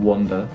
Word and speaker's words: wander: So the first one is wonder on, like O-N, wonder. Wonder.